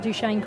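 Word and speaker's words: Duchesne: actually staying on campus I'm at duchane College Duane and you've even pronounced it the right way well done yay I'm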